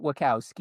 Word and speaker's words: Wachowski: Um, They pronounce it Wachowski rather than Wachowski.